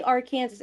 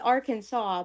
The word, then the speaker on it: Arkansas: I always say R Kansas. It's Arkansas, but like it's because of that one vine.